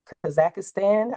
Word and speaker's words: Kazakhstan: My guy Igits is in Kaz- Kazakhstan, I want to say is how it's pronounced.